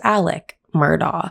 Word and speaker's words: Murdaugh: the family is named alec murdoch but the way his name is spelt you would think his name is alex murdoch however his name is alec murdoch i also want to